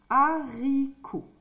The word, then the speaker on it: haricot: dire un haricot ici quand il y a un H on ne fait pas la liaison un haricot ici un